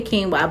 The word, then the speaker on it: quinoa: I'll say quinoa, but it looks like it's spelled Kiona. That's just my that's just my visual.